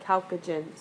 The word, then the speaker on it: chalcogen: to a group called the chalcogen the chalcogen so that's how you pronounce that word chalcogen and this is the